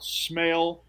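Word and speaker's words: Smael: no no yeah like like one of the senses well it's not spelled that way but it's pronounced that way yeah is it like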